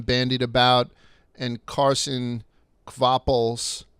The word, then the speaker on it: Kvapil: I pronounced the V. I don't know why. I don't know how to say it, but that was my best attempt. It's Kvapil. No, it definitely is. Kvapil.